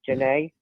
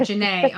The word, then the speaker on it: Janae: I believe they say her name is Janae. That's how you pronounce it. I could not figure it out how the frick to pronounce it. Janae.